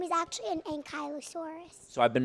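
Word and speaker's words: Ankylosaurus: Oh, an Ankallosaurus. I've seen I've seen those, but the actual name is actually an Ankyosaurus.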